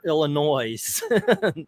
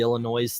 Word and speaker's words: Illinois: our visit to Shermer illinois's and by the way it's Illinois Gale will correct me on the illinois's thing being from Chicago herself yeah Illinois's yeah you guys have